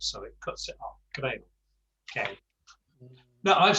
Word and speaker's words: creo: So me siento terrible, not creo. It's creo. Yeah. We do, in English we'd say creo, and we'd elongate the O.